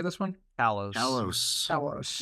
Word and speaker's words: Kalos: Kalos.